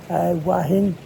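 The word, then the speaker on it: Hua Hin: And I'm going to say Wahin now. It is called, if you look it on the map, it is spelled Huihin. Sorry, I'm getting it wrong. Huihin. Thank you. Huihin, Huahin. And if you look on the map, that's where it's spelled. But you listen to the locals and they all call it Wahin.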